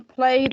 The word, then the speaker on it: played: How is the ed ending in played pronounced? It, red, it, blue, de, yellow, and t, green. Actually, it's pronounced d. Played. Just one correct answer.